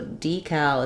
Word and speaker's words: decal: you'll hear it um so decal is how I say it um black cat vowel there decal uh I recently had